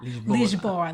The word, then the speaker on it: Lisboa: and Lisbon or in Portuguese it's Lygia bola lisboa that's what I like why are you there